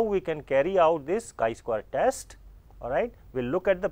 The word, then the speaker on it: chi square: a chi square test it is pronounce as chi square written like this and the symbol is